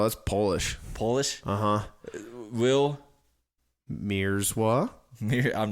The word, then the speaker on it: Mierzwa: Is it Will Mierzwa? Everybody fucks it up. It's Mierzwa. It looks way worse than it actually is. That's not white, is it? Oh, that's Polish. Polish? Uh-huh. Will Mierzwa?